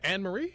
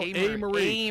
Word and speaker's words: A. Marie: He said, Anne Marie? Anne Marie? Is that how you say it? I said, no, A. Marie.